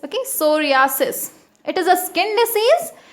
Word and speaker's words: psoriasis: As it is starting with P, but P is silent, so we read it as psoriasis. Okay, psoriasis.